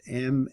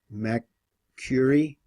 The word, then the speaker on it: Macquarie: I don't know how to pronounce that. It's Macquarie Island. Macquarie Island.